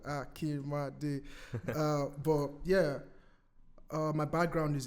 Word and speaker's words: Akinmade: Because people would say Akinmade, and I'm like, nah, it's not 3 syllables, it's 4. It's like Akinmade.